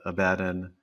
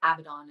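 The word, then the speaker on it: Abaddon: I mean, every character you've played from Black Canary to Abaden carries a different type of strength. Abdon is the pronunciation just to correct it. Yeah. Avidon, thank you.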